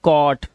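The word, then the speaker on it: caught: एच टी है इसमें जी एच को हमेशा हम क्या रखते हैं साइलेंट रखते हैं तो हम क्या पढ़ते हैं सिर्फ टी को पढ़ते हैं तो ये हो गया कॉट ये कॉज नॉट नॉट लास्ट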